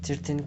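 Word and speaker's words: thirteen: Thus, 13 can be stressed on the last syllable, but in an environment of another words, 13 pins, it can also be pronounced with prominent first syllable in order to keep ear timing.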